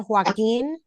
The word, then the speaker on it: Joaquín: Give me the correct pronunciation of the last name. Your Honor, it would be Miss Edna Joaquin.